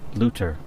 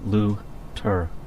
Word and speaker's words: Leuter: The technician's name is pronounced LEUTER, Jack. Potato. No one says potato, Jack. Her name is LEUTER.